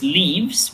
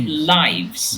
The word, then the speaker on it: lives: effort but be careful we do not pronounce it as leaves we say lives yes lives lives lives